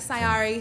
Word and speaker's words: Sy Ari: We got Sari here. What's up, Sari?